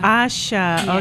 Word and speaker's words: Asha: I like that wow and AA am I pronouncing your name Asha Asha okay I didn't want to mess that up